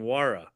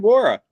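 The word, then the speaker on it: Nwora: scored 33 points yesterday I think you got his name wrong too it's Jordan juara I said Laura he said noora ah well he's nowhere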